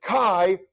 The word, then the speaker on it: chi: Remember that kai rhymes with i and it sounds like sky without the s.